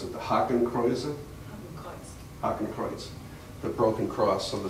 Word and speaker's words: Hakenkreuz: How do you pronounce it? The Hakenkreuz? Hakenkreuz.